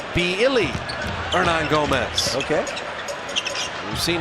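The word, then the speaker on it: Willy: on Gomez now it's spelled Willie but pronounced with a B beilly Nan Gomez okay we've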